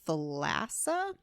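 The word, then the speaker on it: Thalassa: but I'm going to recommend pestilence by Laura thassa that's how you pronounce her last name it is a significantly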